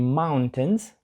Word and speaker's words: mountains: там цікаво те що в кінці I літера I перед N не читається mountains не mountains Тобто ми не кажемо ось це і або I Ні це просто mountains так ніби тої літери I просто не існує I have Two Brothers